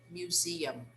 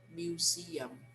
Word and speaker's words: museum: next one museum museum remember words that end in m in english we need to close our mouths when we pronounce them so we have to say museum museum okay the next one